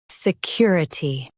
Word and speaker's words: security: Stress kür and keep I light.